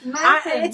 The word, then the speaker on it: Mathon: Did I pronounce it right? Yes, Mathon, yeah.